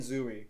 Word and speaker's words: Zooey: If you're reading Catcher in the Rye, read Franny and Zooey. That's a good one. Or Zoe. It's just 2 O's with the name Zoe. It's Zoe.